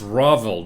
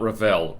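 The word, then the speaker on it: Ravel: Oh, it's Ravvel, not Rall.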